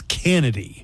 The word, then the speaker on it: Kennedy: Chennedy. Pronounce Kennedy. Chennedy is Kennedy. Yeah, it's not Kennedy. It's Kennedy.